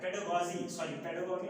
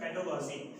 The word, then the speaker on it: pedagogy: तो ये पेडागॉगी कहलाता है, पेडागॉगी नॉट पेडागॉजी। तो एगोगोज का मतलब लीडर, वो पर्सन जो इस चीज में बच्चों की हेल्प करता है, राइट।